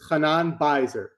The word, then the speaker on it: Chanan Beizer: Chanan Beizer. You pronounce it Chanan once so we can hear it right. It's Chanan Beizer. Beizer.